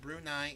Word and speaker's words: Brunei: For those who, again, may not be aware of world geography, Brunei is a small sultanate on the island of